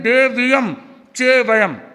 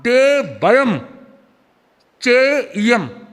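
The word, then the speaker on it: देवयं चेइयं: हमने कहा देवय चेयम यहां लोग बहुत गलत शब्द का प्रयोग करते कई लोग कहते हैं दे वियम चे वयम ये गलत शुद्ध उच्चारण बनेगा दे वयम चे इयम और फिर आगे पजवा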